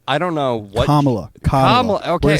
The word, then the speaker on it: Kamala: layup, and now it's just like you have Kamala, who, I want to talk about this real quick. The Democratic campaign, like, with Joe Biden versus Kamala, I don't know what. Kamala.